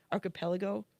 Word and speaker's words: archipelago: how about, is it the gulag am I mispronouncing archipelago?